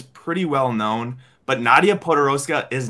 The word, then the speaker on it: Podoroska: Is that how you pronounce it? Right. Yeah, Nadia Podoroska.